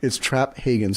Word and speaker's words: Traphagen: oh we're not vegan it's Traphagen so the P in the ages so accent on the first syllable got it no it's